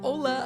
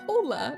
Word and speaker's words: hola: grader butt said this pronounced it like this hola instead of saying hola I said hola like with the H I cannot forget the